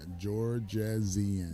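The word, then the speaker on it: Jorjezian: a way to find yeah you got to spell that j-o-r-j-e-z-i-a-n Georgia Zion there we go I'm gonna go ahead and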